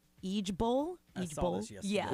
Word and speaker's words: IJBOL: So the preferred saying is now IJBOL, and it's pronounced Eejbol.